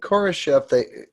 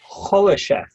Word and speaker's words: Khrushchev: Khrushchev, not Khrushchev. Okay, thank you. Khrushchev. You've got to get the Russian pronunciation.